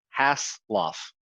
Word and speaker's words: Haseloff: name man my bad two syllables hass lof okay okay but it's jr hassle okay my bad dude